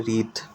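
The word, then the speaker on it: wreath: है उसको बोलते हैं रीथ। यहाँ पे डब्ल्यू साइलेंट है, रीत बोला जाता है, तीत या रीत इक्वल टू फूलों की माला।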